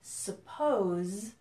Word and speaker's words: suppose: a pronunciation difference between suppose which ends with a Z sound suppose and supposed to do